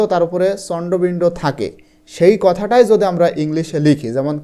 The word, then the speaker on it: কাঁথা: এন টা আসে এবং এই এন এর উচ্চারণ কিন্তু হয় না এজন্য দেখো কাথা এখানে